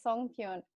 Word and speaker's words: songpyeon: Yeah, it's songpyeon.